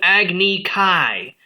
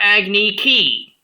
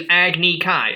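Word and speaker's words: Agni Kai: battle between two firebenders is called agne Kai not agik key it is agnik Kai I don't know what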